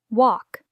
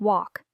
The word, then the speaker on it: walk: to over pronounce pnt walk the L is silent sounds like walk say stand up on